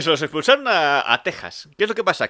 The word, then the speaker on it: Texas: Curiosidad lingüística, Texas y México siempre se han pronunciado con J, pero se escriben con X porque antiguamente la X se leía como J porque venía de la letra griega J, que es la X.